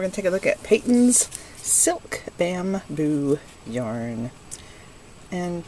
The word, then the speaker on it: Patons: take a look at Peyton's silk bamboo yarn and some people think it's pronounced patents but it's not it's Peyton's I know I work